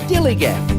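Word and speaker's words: DILLIGAF: That's spelled D-I-L-L-I-G-A-F, Dillygaff, and this is what it means.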